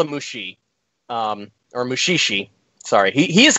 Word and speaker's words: Mushishi: Mushishi, I'm guessing that's spelled Mushishi?